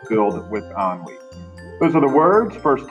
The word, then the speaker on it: ennui: It's pronounced ennui, not N-U-I, but ennui.